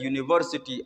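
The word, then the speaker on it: university: उसी तरह यूनिवर्सिटी है, यहाँ यू आया है लेकिन यहाँ इसकी प्रोनाउंसिएशन अगर आप देखें तो यू यानी य से शुरू होता है यूनिवर्सिटी।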